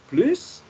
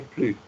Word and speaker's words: plus: Mais quand c'est négatif, on ne prononce pas le S à la fin du mot.